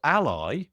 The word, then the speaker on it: Ally: product it seems and it's called Ally a11 y you know but it's it's spelled Ally a l y and it seems to